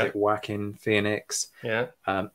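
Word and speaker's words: Joaquin: so I.E pronounce it hoekim Phoenix I know some people um pronounce it whacking Phoenix yeah um I'm going with the Spanish pronunciation and I'm sticking with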